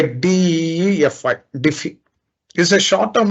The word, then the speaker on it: DeFi: smart cards smart contacts defy pronounced by dfy Defy is a short